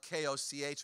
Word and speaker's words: Koch: My last name is spelled K-O-C-H when we pronounce it Koch.